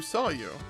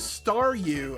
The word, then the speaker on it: Staryu: was just a Staryu, I could never pronounce its name right. Oh, Saw you is Staru. Oh, okay. It always ended up sounding like saw you.